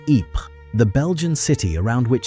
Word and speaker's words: Ypres: British soldiers could not pronounce Ypres, the Belgian city around which some of the most brutal fighting of the war took place, so they called it Wipers.